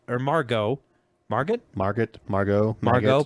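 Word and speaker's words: Margot: Margo marget Margaret Margo Margo probably the te is silent Robbie I don't know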